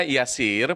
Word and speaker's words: Yasir: untuk mendapatkan kehidupan yang mudah Armin Bapak Ibu ejaan Yasir itu adalah ymki alfasera India Eko Romeo Yasir